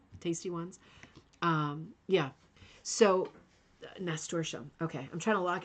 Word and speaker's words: nasturtium: Pronounced nasturtium. Thank you, Pamela. Nasturtium. That is way easier.